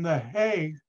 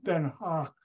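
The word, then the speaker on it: Den Haag: it's called Crowder and I would stay in the hay which in the Netherlands is not called the hay it's called then Hawk and I would stay in that Hawk and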